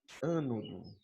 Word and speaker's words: ânodo: O polo negativo de uma pilha a gente vai chamar de ânodo ou anodo, tanto faz, tá? Ânodo ou anodo, a pronúncia é indiferente, ok?